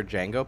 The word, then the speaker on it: Django: film, the trailer for Django played and it froze right when Jamie Foxx was about to say, "The D is silent."